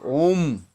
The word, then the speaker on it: ওম: এর দেখুন চন্দ্রবিন্দু আছে আবার ও টা কি হয় অ যোগ উযোগ মম ওম এই ওম কথা তাকে এ করবে না হলে কেউ বলে ফেলে ওম ওম এইটা যেন না